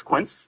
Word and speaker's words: quince: This fruit that can be turned into delicious jam is pronounced with 1 syllable, not 2 like the Spanish number. Jamie. What's quince?